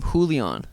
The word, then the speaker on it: Julian: paiva yeah i honestly that was the first time i've heard anyone say his first name julion i'd i'd i've never